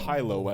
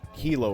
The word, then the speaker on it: HiLo: and it is pronounced Hyo as in high answers and low answers not Hilo as in the place in Hawaii when I realized that